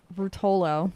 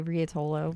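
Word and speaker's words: Ruotolo: Rutolo, because I say Riatolo, which is wrong.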